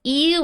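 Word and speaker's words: 言う: which means this and you is just a different way to pronounce eu which means to say and then na here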